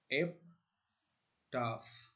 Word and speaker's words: epitaph: Right, इसका pronunciation कहने का तरीका इसका है एप्टाफ।